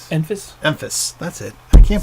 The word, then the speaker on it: Enfys: Enfys. That's it. I can't pronounce that.